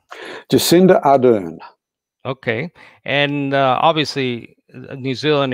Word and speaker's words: Jacinda Ardern: Jacinda Ardern.